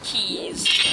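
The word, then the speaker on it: Keese: i don't really care i'm not even sure that i'm pronouncing keith's right i've heard it be pronounced keys as well i think that's what the angry video game nerd said um it's keys i like my keys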